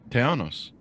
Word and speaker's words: Tejanos: correctly, even though I'm a ZZ Top fan, Tejanos? Am I pronouncing that right? Tejanos.